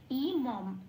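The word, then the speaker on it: इमम्: আচ্ছা, হর্ষই ম অনুস্বর ইমং, তাহলে এখানে শব্দের শেষে অনুস্বর আছে, 4 নম্বরে তালিকাভুক্ত করে দেওয়া আছে ময় হসন্ত দিয়ে অনুস্বরটা প্রতিস্থাপিত প্রতিস্থাপিত হয়ে শব্দটার উচ্চারণ কি দাঁড়াবে? ইমম।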